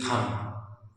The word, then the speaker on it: thumb: आ रहा है, और अगर एम के बाद में बी आए तो बी को नहीं पढ़ते। अब यहाँ भी हम बी को नहीं पढ़ेंगे तो the word will be THUM, और THUM आप रीड करोगे तो दिस विल बी थम। This is bomb, this is थम, यानी बी के पहले